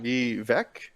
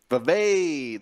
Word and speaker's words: Vivek: I was told the pronunciation, and now I already forgot it. Vivek? No, that's not right. Tell me. Vivek.